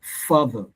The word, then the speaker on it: father: And that's father, father, father, father. So when I pronounce word father, you can say the fa, it's louder, and the father, father.